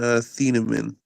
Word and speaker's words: Thieneman: I'm pretty sure it's Dylan Thieneman.